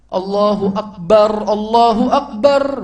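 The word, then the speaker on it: الله أكبر: Huruf ra-nya dalam kalimat akbar yang di akhirnya itu disukun, bacanya mati. Allahu Akbar, begitu bacanya.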